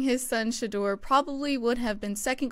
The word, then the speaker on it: Shedeur: We're going to be covering Deion Sanders saying his son, I learned how to pronounce this and then I forgot. Can you enlighten Shedeur.